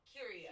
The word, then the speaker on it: curio: Am I saying it right? No, Curio. Curio.